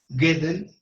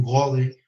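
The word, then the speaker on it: Gödel: Por ejemplo, Gedel no le dicen de muchas maneras porque es un poco difícil traducirlo del alemán. Yo digo Kurgedel y algunos otros dicen gode, ¿no? Eh, francamente me es difícil pronunciarlo en alemán.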